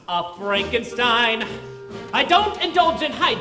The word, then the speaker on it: Frankenstein: My name it's pronounced Frankenstein.